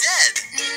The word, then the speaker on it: Z: It rhymes with G and P and V.